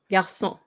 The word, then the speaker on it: garçon: CD is the accent, and it makes the sound pronounced as an S instead of the, yeah.